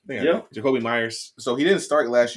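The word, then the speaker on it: Jakobi Meyers: Jacoby Myers.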